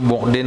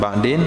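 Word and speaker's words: بعد: itu buin bacanya bukan ba'din buin jauh rama beserta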